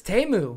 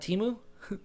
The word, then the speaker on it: Temu: I laughed so fucking hard when they were like, it's Temu. And I'm like, not Temu? Everyone's been pronouncing it Temu for like 8 months.